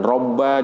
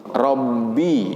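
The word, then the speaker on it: رب: Perkataanmu Sony plafond ROM itu bacanya digegerkan jadi jangan roomba jangan rambut tapi rombi ya jadi sifat dari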